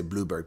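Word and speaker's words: Blouberg: I know Blahberg. Been there many, many times. You guys say Blubberg, but it's spelled Blowberg.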